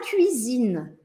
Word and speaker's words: cuisine: La cuisine. Cuisine. Cuisine. La cuisine. Tem que abrir esse biquinho, fazer o biquinho e depois abrir o sorriso, tá?